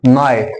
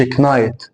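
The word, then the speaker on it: knight: هنا الكي جه بعدها ان، فبقولش كي، فبقول نايت. ما بقولش كنايت. ما بقولش كنايت.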